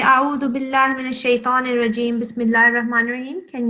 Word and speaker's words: الشيطان: So that was good, but you have to say shaitan. You see, I'm circling the ta. Yeah. It's not ta, it's ta, shaitan, like this.